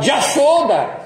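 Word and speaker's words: Yaśodā: O bengali não fala Yamuna, fala Jamuna. Não fala Yasoda, fala Jasoda.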